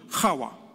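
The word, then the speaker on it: Chava: Of course, in Hebrew, it's not Eve or Hawa. It's actually C-H-A-V-A. It's Hawa. It's hard for us to pronounce. Don't worry. Don't worry about it. Because we have only H in English, but this is more a H.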